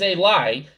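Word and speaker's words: אלי: Ki Omar, parentheses Eli, he said to me, but again the Eli is not written, it is pronounced.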